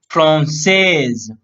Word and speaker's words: français: Last word before y will be here S. So he will pronounce français.